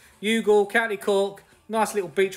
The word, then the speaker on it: Youghal: Cork it's a beach resort and it's uh pronounced yugul yugul County Cork nice little Beach Resort get yourselves